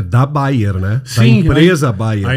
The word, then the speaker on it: Bayer: essa essa informação importante lá é bay Leverkusen sem n Bayern que significa então